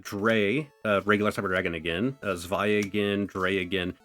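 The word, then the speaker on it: Zwei: Cyber Dragon, Dre, regular Cyber Dragon again, Zvi again, Dre again. I pronounce it Zvi because that's how I've just heard that name pronounced whenever you see it pull up. Maybe I'm saying it weird.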